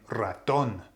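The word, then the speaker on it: ratón: the a so the word would be if it was pronounced the Natural Way Raton Raton but that's not how I'm saying it I'm saying Raton so there something something wrong there I'm not pronouncing it the way that it should therefore yes on the o there's a there's an accent Ron has to be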